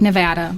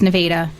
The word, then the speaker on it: Nevada: So I went to school um down in um Nevada, Missouri, which is it's spelled just like Nevada, but it's pronounced Nevada.